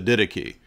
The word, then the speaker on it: Didache: You're not even pronouncing the text correct that you're citing. It's the Didache, and the Didache talks